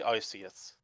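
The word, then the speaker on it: Arceus: I say Arus. I know some people defend Archus for reason.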